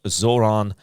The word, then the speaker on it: Zoran Veljković: talking about five steps of film making of Zoronovich.